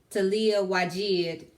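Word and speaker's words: Taliah Waajid: And I used the Talia Wajid.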